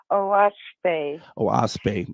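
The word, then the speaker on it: Oahspe: it's spelled o a s p and it's pronounced oasp oase I wanted to make sure I didn't want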